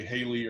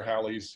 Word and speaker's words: Halley: a slightly different way it's like halley's you can say haley or halley's you know there's different ways of saying it um and it's actually